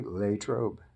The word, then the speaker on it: Latrobe: of the cities so a lot of people call it Latrobe but it's really late robe to the old-timers there so we connected